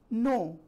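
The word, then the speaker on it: knee: नो, N-O-W, नो भी पढ़ा जा सकता है, K-N-O-W, नो. न्यू, K-N-E-W, न्यू, नो और न्यू. वाई, W-Y, Y. Ghost, G-H-O-S-T, ghost. नी, N-E-E नहीं, K-N-E-E, के साइलेंट है.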